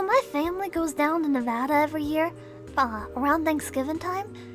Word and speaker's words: Nevada: And it's pronounced Nevada, okay? Don't listen to nobody that's like, Nevada.